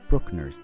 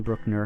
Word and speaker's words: Bruckner: His name, to some of you, might resemble that of Anton Bruckner's name, who was an Austrian composer known for his long symphonies. However, it is different. They are not related. Anton Bruckner has no umlaut over the U, so it